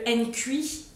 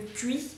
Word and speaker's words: Nkui: Je ne sais pas si c'est comme ça que ça se prononce, mais c'est bien le Nkui ou bien le Nkui pour ceux qui prononcent le N. Mais sinon, je sais qu'en africain, on ne prononce pas souvent les consonnes devant d'autres consonnes. Donc c'est le Nkui.